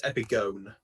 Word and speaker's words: epigone: I would say epigone. Yeah. Yeah, just confirm that, George, isn't it? Epigon is just epigon, isn't it? I will confirm that if I can. Epigon. We all would pronouncing the syllables in the Greek words. Yeah, it's epigone.